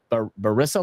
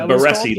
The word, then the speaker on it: Barassi: The Barissa line. The Barassi line. The Barassi line. That's what it is. Barassi.